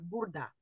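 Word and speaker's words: burada: Часто вы слышите такое сокращение, как бурда. Бурда, это мы так произносим, мы роняем эту гласную. Но правильное написание бурада.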